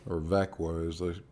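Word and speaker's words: Växjö: company uh schwenska flax fabricant with headquarters in vexia or vakwa as they pronounce it sweden which is southern central sweden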